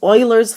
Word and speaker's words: Euler: a polyhedron to use Oilers formula the best way to pronounce this word is Oiler it's kind of like this Oiler formula and this is